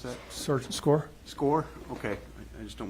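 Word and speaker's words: Skaar: And I believe you pronounce his name as like Scar, but is it Sergeant S-K-A-A-R? That's correct. How did you pronounce that? Sergeant Score?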